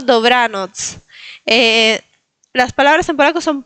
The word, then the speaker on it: Dobranoc: No es Dobranok, es Dobranoc. Bien, recuerden de marcar la TZ, Dobranoc. Y recuerden de no poner acentos al final. No es Dobranok o Dobranoc, sino Dobranoc.